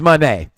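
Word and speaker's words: Moné: this pay-per-view no Mercedes Monae you knew it wasn't a big pay-per-view I was G say it right there because Mercedes Monae is Manet okay then we get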